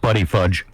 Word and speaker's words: Buttigieg: I think it's pronounced Buddy Fudge.